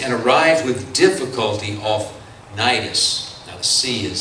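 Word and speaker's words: Cnidus: number of days and arrived with difficulty off nidus now the sea is silent in that word and as the wind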